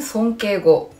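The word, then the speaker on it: 尊敬語: 종경어는 손깨고, 겸용어는 겐조고. 그런데 이게 원투로 나눠져 있죠. 자, 그 밑에가 정중어, 대내고라고 읽고요.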